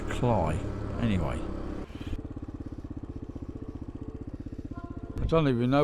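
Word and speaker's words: Cley: car or a van I don't think it's pronounced clay I'm sure it's cly anyway I don't even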